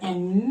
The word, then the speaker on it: and: Walter and William again you have to omit the sound of a and d just pronounce the n Sound again Mr and Mrs Barry Mr and